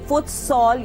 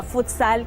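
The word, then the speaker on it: futsal: वैसे पॉपुलरली हर कोई फुटसॉल ही कहता है, मगर असली में इसको प्रोनाउंस हम फुटसैल ही करते हैं। बट क्योंकि अब सब फुटसॉल बोलते हैं तो हम भी फुटसॉल ही बोलेंगे।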